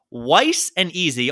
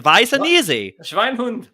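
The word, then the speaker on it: Weisse'n'Easy: right but from the Shiner Brewery it's called wise and easy although it's pronounced vicinity right the vice and easy but what really worries me it says it's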